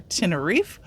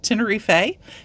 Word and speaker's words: Tenerife: it is pronounced either Tiner or tin Tiner depending on where you're from both pronunciations are correct so we are off